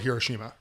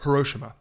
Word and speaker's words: Hiroshima: Hiroshima, 2 days before the bomb was dropped, I guess there's a big clock in the middle of Hiroshima, or Hiroshima, as it's actually pronounced.